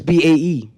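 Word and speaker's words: bae: I don't know why youths choose to pronounce it sound or so, but it's B-A-E.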